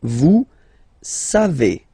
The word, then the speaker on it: savez: Then vous savez, classic ending for vous, E-Z, but then phonetically it's E, vous savez, savez.